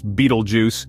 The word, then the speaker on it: Betelgeuse: red star named Beetlejuice bju pronounced as Beetlejuice is a fascinating Celestial